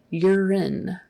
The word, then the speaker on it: urine: you're in and um even though there's an e on the end that is still a short I sound urine urine urine and uh